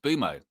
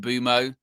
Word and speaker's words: Mbeumo: It's Bryan and then I don't even think they use the M. I think it's just Boumo.